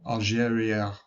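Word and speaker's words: Algérie: There was a lot of discussion of Algeria That's how you say it in French.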